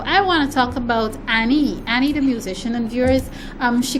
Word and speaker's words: Ann3ie: I'm told that her name is Annie, as in ANNI, number 3. The 3 is silent, and E.